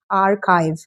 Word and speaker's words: archive: It's not archive, it's archive. Archive.